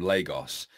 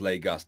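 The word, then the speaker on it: Lagos: rich arses or a bear can you guys pronounce the country name Legos you guys always call it Legos but it's pronounced leg us no its Legos I guess Legos re Terrapins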